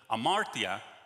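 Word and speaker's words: ἁμαρτία: the origin and now my greek professor said that you don't pronounce the h it's just amartya which in greek means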